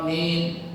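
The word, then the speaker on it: آمين: alaihim wadin Amin aminnya juga baca bacanya pendek saja aminnya Amin gitu nah jangan Amin a-nya jangan terlalu panjang panjang tapi tidak terlalu mimnya yang boleh panjang Amin nah jangan Amin atau semuhnya panjang Amin Amin Amin Amin itu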